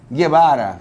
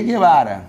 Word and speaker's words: Guevara: Porque pode ser Guevara, por exemplo. Che Guevara. Você usa lá re, esse U não é pronunciado.